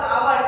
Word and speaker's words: hour: For example, both hours and holiday begin with the letter H. And we say an hour because the H is silent in the hours, but we say holiday because the H is pronounced is holiday.